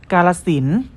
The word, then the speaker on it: กาฬสินธุ์: เหมือน เดิม นะ ครับ เรา จะ ไม่ ออก เสียง พยัญชนะ และ สระ ที่ มี เครื่อง หมาย ทัณฑฆาต กำกับ อยู่ นั่น เอง ครับ เช่น คำ ว่า